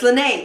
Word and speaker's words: Lanai: ocean color way by Lanai yarn which is my most favourite here and ever it really really is lanai or its lynnae's it's Lynnae I've been saying it wrong all the time and yeah so